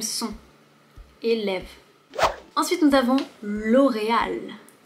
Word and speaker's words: L'Oréal: Ensuite, nous avons L'Oréal. L'Oréal. Le R est très léger ici, L'Oréal. Et ici, tu vois, il y a un accent aigu. L'Oréal.